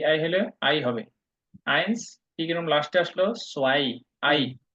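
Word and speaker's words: eins: হচ্ছে সেট সেট সেন সেন সেন সেন সেন উচ্চারণ হলো সেন সেন হ্যাঁ এবার দ্রুত বলেন তো আট এক থেকে এক থেকে ইনসুই আইনস আচ্ছা আইনস আইনস জুই জুই না সো আই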